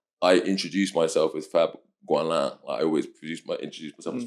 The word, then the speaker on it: Goualin: Goualin or Goualin. Goualin. So it's like it's French, and the French pronunciation is Goualin. Mm-hmm. But the English pronunciation is Goualin, which is so much uglier.